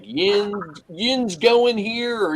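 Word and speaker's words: yinz: you're in Pittsburgh they they use a word called wins see it what it's it's the way they spell it is y-i-n-z yin's is how it comes out so they always say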